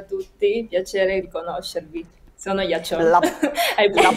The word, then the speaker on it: Yaqiong: c'è il mio nome che si pronuncia ghiaccio Ma è scritto gli occhi Young quindi molte persone sbagliando pronunciando invece non si produce alla C finale e la Q si pronuncia ci in cinese Ma posso chiederti se